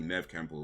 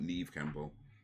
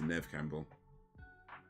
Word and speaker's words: Neve Campbell: I don't know how many people know that, but yeah, it's actually Nev Campbell, not Neve Campbell. It's pronounced Nev Campbell.